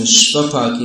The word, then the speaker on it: Shvapaki: So get your pronunciation right. Svapaki means one who is very strict in his eating, and Shvapaki means they eat dogs.